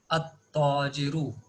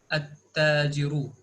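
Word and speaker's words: التَّاجِرُ: Now in huruf al shamsiyah we will see that whenever al is attached to the words starting with al huruf al shamsiyah, then at that point of time lam is not pronounced.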